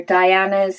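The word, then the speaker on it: Daiana: Fred really doesn't know Diana's is spelled d a i um a-n-a um she says her name is pronounced Diana the traditional spelling however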